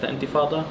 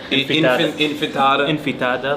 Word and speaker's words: Intifada: Like now the media is mad about globalized Intifada, or they can't even like pronounce it right. They say enchilada, infitada.